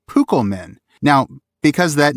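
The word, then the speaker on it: Púkel-men: That's because in modern English, of course, C is typically soft, pronounced like the S, before front vowels like E or I. Tolkien apparently wanted to make sure his readers pronounced it Pukelmen, not Pusselmen.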